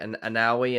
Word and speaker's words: Awoniyi: Is it Anawi? And how I can't pronounce it. Awoniyi.